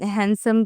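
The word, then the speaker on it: handsome: जैसे कि मतलब हैंडसम के अंदर एन के बाद डी आया तो हमने इसे साइलेंट कर दिया।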